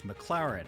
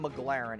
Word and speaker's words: McLaren: because he couldn't pronounce McLaren he says the name wrong like eight times in a row it's not McLaren it's McLaren okay so that's how he